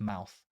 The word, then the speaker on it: Eyemouth: I think Eyemouth, which comes later, is actually pronounced Mouth, but usually it's Muth.